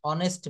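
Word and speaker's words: honest: Is dash অনেস্ট ম্যান।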